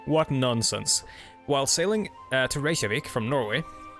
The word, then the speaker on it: Reykjavik: While sailing to Reykjavik from Norway, that's how you pronounce that, by the way. It's not Reykjavik, it's Reykjavik. But that's a sound that most English speakers or Anglophones cannot make. The sh sound.